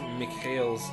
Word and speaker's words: Mikhail: I don't know how to pronounce Mikhail's last name there. Pure feet. It's obviously... What? No, not Michael. Mikhail, the one that just went off the top of the screen.